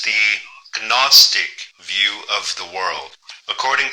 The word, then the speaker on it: Gnostic: throughout this whole video at first I thought he was saying agnostics but he's trying to say gnostics he's trying to say